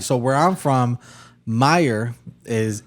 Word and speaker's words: Mayer: So how do you pronounce it? Oscar Meyer. Meyer. Meer. Yeah. Not mayor or mayor. Mayor is m a y o r, right? Like the mayor of a city, right?